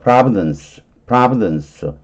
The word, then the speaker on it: providence: 그렇지만 providence, 이게 발음을 할 때 이 뒤쪽은 앞에를 아에다가 똥땡이 똥 쳤죠. 그럼 요거는 프라가 되는 거예요. 프라. 그리고 이쪽은 부든스 이렇게 다 발음 안 해도 돼요. providence.